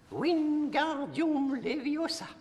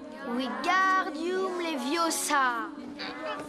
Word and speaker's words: Wingardium Leviosa: vit en abs allez-y entend bien bientôt est prononcée wingardium leviosa alesi doom leviosa wingardium leviosa l'aube stop stop stop tu vas finir par